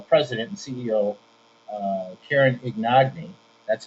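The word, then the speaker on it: Ignagni: a ceo uh president and ceo uh karen ignogny that's how you pronounce her name and uh she's in charge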